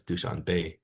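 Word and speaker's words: Dushanbe: He taught me how he he corrected to me how to pronounce Duchon Bay because I thought it was Duchon Ba but he said no it's Duchon Bay.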